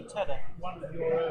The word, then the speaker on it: Tudhoe: Does that mean that the one that's written as Tudhoe is actually Tudor? Tudor. Yes, it's Tudor. Tudor.